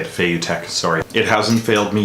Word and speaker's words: Feiyutech: That's how you say it, Feiyutech, sorry.